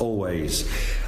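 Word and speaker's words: Alvvays: So that was Archie, Marry Me by the band Always, although that is spelt Always, A-L-V-V-A-Y-S, but pronounced Always.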